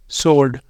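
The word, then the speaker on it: sword: नीचे लिखे हुए हैं इनमें भी डब्लू साइलेंट होता है लेकिन इनके लिए कोई रूल नहीं है जैसे आंसर टू सोल्ड और इनके लिए भी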